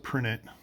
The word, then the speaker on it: prehnite: That's how I pronounce it. I think some people pronounce it prinit. I don't know which is probably the second one's the correct way to do it, but I like saying prehnite.